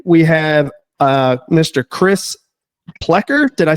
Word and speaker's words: Plekker: Chris Pleer.